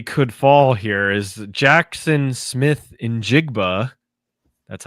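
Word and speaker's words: Smith-Njigba: Another record that quietly could fall here is Jackson Smith Injigba.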